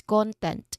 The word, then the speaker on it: content: And again the rule um usually the rule that is followed um for a noun word is we are stressing on the first syllable. So it's content.